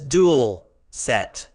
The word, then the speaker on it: dulcet: it is pronounced as dual set with the stress on the first syllable meaning dolet describes something